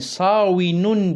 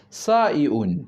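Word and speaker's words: صائن: olsun kolaylık olsun diye yani savun diye telaffuz etmek yerine saun saun diye telaffuz ediyorlar yani bunun ismi Faili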